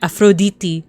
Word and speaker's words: Aphrodite: That actually includes the first person that we're going to um concentrate on today is Aphrodite or Afro Aphroditi as they would say in like the um the the Greek pronunciation.